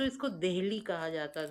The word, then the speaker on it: दिल्ली: डब्ल्यू एन पी ओ आर ई इसी तरह दिल्ली का दिल्ली कोई चीज ही नहीं थी या तो इसको दिल्ली कहा जाता था कि दिल्ली जिसे लेकर के